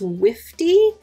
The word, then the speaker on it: wifty: And I also learned a new word recently, and the word is wifty, which rhymes with nifty, and it means whimsical.